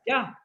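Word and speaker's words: יה: seconde lettre donc de Yah et il se prononce par un simple souffle à la manière d'un H muet, Yah.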